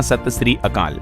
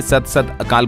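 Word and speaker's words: ਸਤਿ ਸ੍ਰੀ ਅਕਾਲ: इसे ऐसे कहते हैं सही उच्चारण होता है सत श्री अकाल तो राजस्थान के सीएम भजनलाल ने सत सत अकाल बोल दिया था इसके जगह पर और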